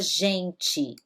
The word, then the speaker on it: gente: Então, quando esse G ele está diante da letra I, que é o caso, Gi, né? Ou ele está com a letra E, se eu escrevo a palavra gente, né? Ele vai ter esse som J.